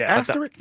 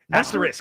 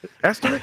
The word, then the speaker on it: asterisk: I'm saying asteric. Asterisk. Move on, buddy. Asteric. Asterisk.